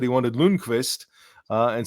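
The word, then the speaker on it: Lundkvist: wanted lonquist uh and so I was saying lonquist and then people asked why you know team officials were saying why are you saying lonquist and I said that's how he said his name's pronounced um and they went and checked they went and checked with him and he said you know in North America it's probably easier to go with Lundquist so that's fine so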